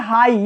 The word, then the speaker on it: high: Silent रहता है, कब, जब GH लास्ट में आता है, जब GH केवल GH लास्ट में आता है और उसके पहले अगर आई आ जाता है तब GH क्या रहेगा, साइलेंट रहेगा। देखिए कैसे, यहां लिखा है हाई, HIGH, लास्ट में GH आया है लेकिन उसके पहले क्या आ गया है, आई, तो यहां GH क्या रहेगा, हमेशा साइलेंट रहेगा।